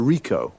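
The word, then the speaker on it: Ricoh: a camera what make and model it's a Rico Rico how do you spell that r-i-c-o-h okay got that now you see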